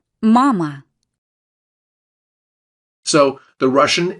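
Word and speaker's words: мама: Mama. Mama. So, the Russian M is identical to ours. M. M. And their letter A. is always an ah sound.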